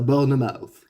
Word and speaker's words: Bournemouth: Sérieux, qu'on ait la bouche vide ou la bouche pleine de gâteaux, ça se dit pareil.